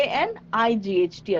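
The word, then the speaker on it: knight: n yes very good so K N I G HT again night night means you know Soldier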